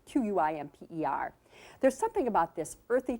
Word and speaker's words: Quimper: I mentioned to you earlier about my friend Eleanor serving the currant tarts on Compere. Actually, that word looks like it's spelled quimper, Q-U-I-M-P-E-R.